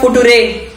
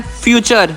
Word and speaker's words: future: FUTURE, ये तो है फुटुरे। चुप करो पागल। किशन, इस वर्ड का सही प्रोनाउंसिएशन है फ्यूचर।